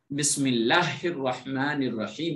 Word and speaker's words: بسم اللہ الرحمن الرحیم: سن لیجئے گا، کیونکہ بعض حضرات اس بسم اللہ الرحمن الرحیم کے تلفظ کو غلط کرتے ہیں اور وہ پڑھتے ہیں بسم اللہ الرحمن الرحیم، نون کو 2 مرتبہ پڑھتے ہیں، حالانکہ 1 مرتبہ نون ہے، اور اس کا